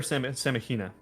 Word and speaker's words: Semagina: Is it Semagina or Semagina? I don't see Is the the- name. Yeah. Soft G. It's a soft G.